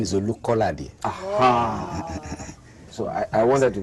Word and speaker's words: Olukolade: My name is Olukolade.